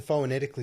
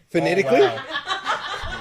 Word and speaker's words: phonetically: kife and if if you were asked to phenetically spell a knife sorry what phenetically phenetically is that the word phonetically wow oh no wow can you say that